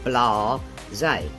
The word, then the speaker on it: blasé: Sounds a little French, could be a little French, but we use it in England a lot, or I do anyhow. So 2 syllables, guys, blasé.